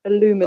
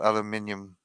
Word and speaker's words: aluminium: aluminum. Oh, I could really go for Aluminum. Cat saying aluminum. Yeah. Although in German it's also aluminium.